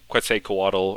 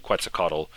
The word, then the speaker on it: Quetzalcoatl: huh then you have Quetzalcoatl I know it's meant to be pronounced like quite say coatal or something like that but I grew up saying quetzacado and he is the